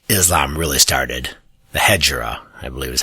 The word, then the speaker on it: Hijra: The Hijra, I believe is how it's pronounced. Hegira.